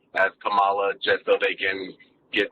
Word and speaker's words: Kamala: and then became VP I thought her name was Kamala also I didn't realize it's pronounced differently when I figured out it was Kamala I just started pronouncing it correctly like you know it's